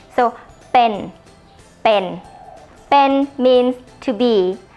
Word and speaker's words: เป็น: this character here But It's The mixture Between B and P when you speak the word ปะ ปะ it should Sound like this โ So เป็น เป็น เป็น means to